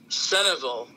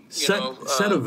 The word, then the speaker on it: Centralville: a girl in Centralville, they pronounce it Centerville, Centerville, but it's spelled Centralville, but it's said like it's Centerville, yeah.